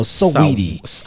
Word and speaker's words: Saweetie: Is it Sweetie or Saweetie? I think it's Saweetie. Because it's spelled S-A-Weetie.